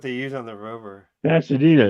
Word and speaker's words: Pasadena: the abbreviation for NASA's jet propulsion laboratory in pasadia California pasadia Pasad where well how do you say it how do you say it John acania that's how do you say it you're from there you're from Pasadena you're from Pasadena aren't you Pasadena I'm messing